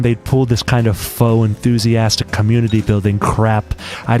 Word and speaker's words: faux: It's pronounced Fox.